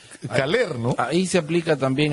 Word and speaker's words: Caller: Dependiendo de dónde estemos, sí, porque en la sierra pronuncian Cayer, en la costa Caler, en Europa, Alemania, Cala, porque en alemán toda palabra terminada en ER se pronuncia A.